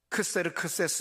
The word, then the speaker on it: 크세르크세스: 이야기가 1장 1절에 나오는데 우리 성경에는 아스로 왕이에요 그런데 원 발음은 크세르크세스 왕이죠 그런데 1장부터 그 페르시아의